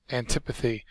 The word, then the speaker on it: antipathy: Fink's general sort of humor our first word is antipathy antipathy it's a noun the accent syllables the second syllable is a strong dislike